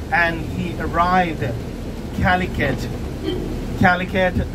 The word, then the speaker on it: Calicut: Calicut, there is no Calcutta. There is no resemblance.